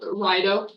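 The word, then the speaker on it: Raido: say that one uh you just call it Ryo Ryo like raid does kind of look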